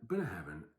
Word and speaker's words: Ardnahoe: Ardnahoe, not Bunny Heaven. And Ardnahoe tends to go against the grain of the land, tending to be not smoky and peaty generally.